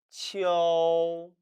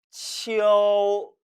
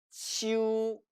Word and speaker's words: 秋: 따라서 원래는 이 모음과 어 모음이 합쳐져서 이어, 가을 추자는 치어, 치어라고 발음해야 되는데 한어 병음에는 이와 우만 표기되어 있어서 마치 이것이 이유, 이유 발음인 것처럼 오인하게 되었다고 했습니다. 그래서 오늘날 중국인들 중에서도 젊은 층은 이것을 치어가 아니라 치우, 치우로 발음하는 경우도 있다고 했죠. 그럼에도 몇 성은 삼성만큼은 치어라고 발음하는 것에 주의하시기 바랍니다.